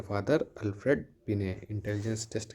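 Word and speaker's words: Binet: फिर भी आपको पता होना चाहिए कि इंटेलिजेंस के फादर अल्फ्रेड बिने, इंटेलिजेंस टेस्ट के फादर अल्फ्रेड बिनेट। टी ये देखिए, टी से आप याद रखिएगा, बिनेट टी साइलेंट है, टेस्ट की बात हो रही है तो अल्फ्रेड बिनेट।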